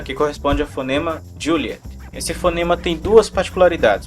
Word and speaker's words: Juliet: E a próxima particularidade do Juliet é a pronúncia. Como vocês podem ver, até agora eu pronunciei Juliet, que é como está indicado lá no PDF do ICA 112. Porém, pessoal, é extremamente raro o pessoal aqui no Brasil falar com esse sotaque, Juliet.